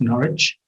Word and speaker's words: Norwich: And we're in that city you see there called Norwich. So although there's a W in the spelling of the name, you don't need to pronounce that, it's just pronounced Norwich. And Norwich is less than 2